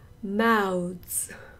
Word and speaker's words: mouths: 쓰 발음하세요. Mouse, mouse. Right, so that's mouse. This one is mouths, mouths.